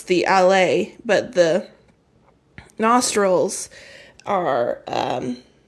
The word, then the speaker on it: ala: The ala. Oh, it's pronounced LA, I think. I'm pronouncing it wrong.